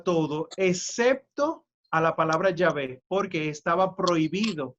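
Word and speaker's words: Yahvé: ellos traducen como jehová sin embargo es incorrecto porque tú estás juntando dos palabras ahora mismo no se sabe cuál es verdaderamente la manera en la que se pronunciaba llave pero lo que sí se sabe es que es mucho más probable que se pronuncie sabe mucho más que jehová jehová es incorrecto ya ve es correcto pero sepan y este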